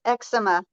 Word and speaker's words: eczema: you say it yep it's eczema eczema okay not eggs eczema um I found lots